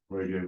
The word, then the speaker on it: Qodeo: It's pronounced like Qodeo with a Q.